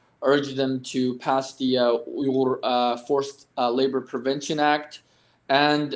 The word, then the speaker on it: Uyghur: their senators, their congressmen, urge them to recognize the atrocities as a genocide, urge them to pass the Uyghur Forced Labor Prevention Act, and of course, show solidarity to our cause, spread awareness about the situation, and hope that the U.S.